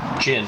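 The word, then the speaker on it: Jun: first name would be spelled j-u-n but pronounced Jin he is a Ming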